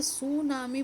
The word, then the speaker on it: tsunami: तो बेटा सुनामी बोलते हैं हम टी क्योंकि साइलेंट है, आप ये ध्यान रखिएगा कि सुनामी में टी साइलेंट है।